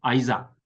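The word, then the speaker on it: Isaac: 그래서 어 이츠크 영어로는 발음이 아주 좋죠. 아이삭.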